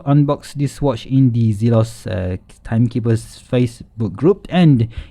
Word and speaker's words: Zelos: by the way guys it's called zelos not zealous right so let's say it properly zelos right so anyway let's see